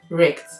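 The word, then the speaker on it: rekt: Well, this brings us to the eighth one, which we call wrecked. It's usually spelled R-E-K-T, but then it's an internet slang for wrecked, meaning severely damaged or utterly destroyed and ruined.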